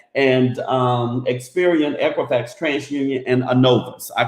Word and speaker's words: Innovis: And so that is spelled INNOVIS. Now you pronunciate it the way you want to. I'm gonna call it Innovis, so you can say whatever you want to say.